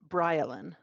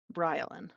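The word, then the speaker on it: Baryleen: the first one is b-a-r-y-l-e-e-n this is a four-year-old female pronounce BryLin B the pronunciation is spelled b-r-y-l-a-l-i-n BryLin which like I guess you wanted a built-in country accent in there I don't know what's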